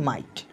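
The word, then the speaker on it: might: দেখো আই উচ্চারণ হবে কিন্তু এই জিটা উচ্চারণ হবে না দেখো মাইট সাইড নাইট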